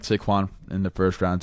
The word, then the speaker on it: Saquon: It's Saquon. Say it with me. Ready? Saquon. Saquon Barkley. Saquon Barkley. Not Shaquan.